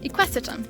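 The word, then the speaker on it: Equisetum: It is the equestitum, there we go, that's how you say it, species.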